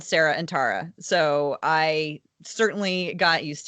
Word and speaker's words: Tara: to get used to pronouncing your name as Tara it's Tara over here with a long I so so Tara I